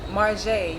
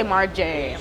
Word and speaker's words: M.Jae: like if they say M.Jae, like I just like, no, M.Jae. it's J, like say the whole thing.